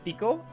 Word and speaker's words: Tikoh: ] thing is so her name is uh tico i think uh i'm not sure why they put a hitch there but uh i guess it's a silent h it's just tickle all right her name